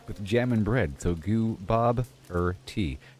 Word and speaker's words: Gooboberti: Then Bob like the name Bob with a stress on Bob. Then like the questioner and then T like the drink of with jam and bread. So goo. Bob T.